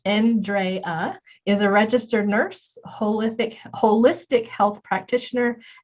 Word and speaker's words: Andrea: Andrea, pronounced N-drey-uh, is a registered nurse, holistic health practitioner, and best-selling author and life and mindset coach.